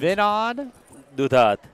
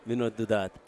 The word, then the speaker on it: Vinod Dudhat: How do you pronounce your name? Vinod Dudhat. Dudhat. Yeah, Vinod Dudhat.